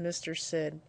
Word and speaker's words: MrSID: is in msid and this is typically pronounced Mr Sid it stands for multi-resolution